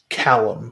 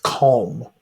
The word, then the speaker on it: Colm: Is it Colin or Cullum? Oh, Colm. Okay. I thought it was like Callum, but they were mispronounced, but it's Colm. Okay. They pronounce it Colum, though. Yeah, but there's no vowel in there.